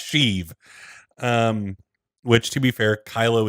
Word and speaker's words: Sheev: Replace the T with an H in Steve. I mean, that's true. I mean, the spelling's different. I know, don't at me, but yeah, it's pronounced Sheev.